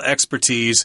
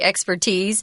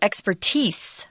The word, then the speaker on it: expertise: I say expertise, but you can also say expertise with an S.